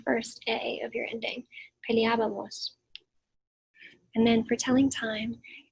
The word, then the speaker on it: peleábamos: So we're going to go with peleábamos with an accent on the first A of your ending. Peleábamos.